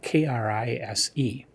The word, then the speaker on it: Krise: Oh, and it has an alternate title where the Malay Krise is normally spelled Krise, but there's an alternate title where it's spelled Creese. So I think Krise is the correct pronunciation.